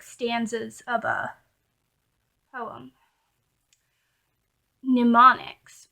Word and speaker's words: mnemonics: Mnemonics, which is spelled Mnemonics, but you say it mnemonic, I believe.